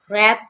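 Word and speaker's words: wrap: रैप, रैप में W silent है और र यानी आर की साउंड आ रही है, रैप।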